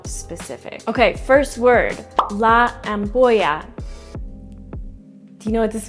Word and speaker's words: ampolla: So again, it's la ampolla, and that's spelled with a double L, which is pronounced with a sounding like a Y in English. So once again, la ampolla.